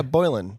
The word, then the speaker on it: Boylan: did I say your last name correctly yeah boin boin like I'm boin sometimes I wonder if like